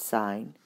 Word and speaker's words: sine: letters of the function the sine function pronounced sign even though it's SI